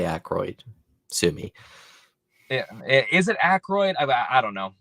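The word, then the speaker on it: Aykroyd: want to I always want to call him Anroid because that's how I've always heard it pronounced, but it's Acroy. Huh. Oh, really? Yes. A Y K R O Y D. Well, I'm gonna say Acroyd.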